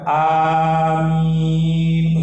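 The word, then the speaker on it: آمين: Maka yang benar, yang sahih insyaallah itu yang kedua kita cukup bacanya 2 harakat. Amin, untuk minnya dipanjangkan. Jangan dipanjangkan ya.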